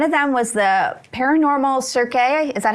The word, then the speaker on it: Cirque: One of them was the Paranormal Cirque. Is that how you pronounce it? Instead of circus, it's Cirque, C-I-R-Q-U-E.